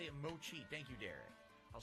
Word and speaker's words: mochi: thank you for reminding me there derek it's pronounced mochi okay i'll say it mochi thank you derek i'll say mochi cool derek says he's had mango and vanilla